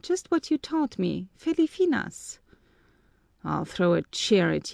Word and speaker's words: Filipinas: chair at you you yesterday you pronounced it even better in the modern style but now it's proper to pronounce it like an ancient feli i mean filipinas remember that i am